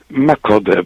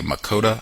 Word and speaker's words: Makode: pronouncing your name correctly my code but i'm used to many different pronunciations for my name it's okay okay thank you i want to see if i can get it correctly makota that's fine okay